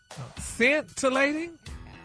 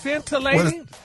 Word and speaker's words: scintillating: It say pronounced scentilating. Scentilating. S E I see I thought it was scare. No, the C is No, the C is silent.